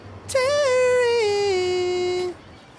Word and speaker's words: Terry: Well, I guess it might rhyme with Mary or Harry. My name isn't Mary or Harry. My name is Terry.